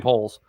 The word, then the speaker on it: Poles: Now, I think the Bears front office has now done a great job, the new regime under Ryan Poles.